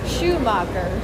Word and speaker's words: Schumacher: Is it not Shoemaker? Sorry, how do I pronounce his name? I apologize. The endless quest for the Ferraris. I'm kind of hungry. North Wall. Schumacher.